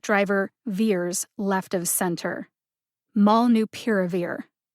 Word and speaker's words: molnupiravir: like a drunk driver veers left of center mall new piravir malnu piravir put the primary emphasis on the syllable pier and the secondary emphasis on the